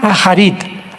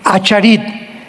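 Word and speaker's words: אחרית: Postreros es acharit, así como suena con CH, se pronuncia acharit, acharit. Y tiempos o días son yom, Y-O-M de mamá.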